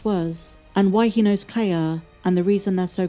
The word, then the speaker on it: Kleya: And because her name is Cla, which sounds like Leia, it's another sibling duo who was separated when they were very young.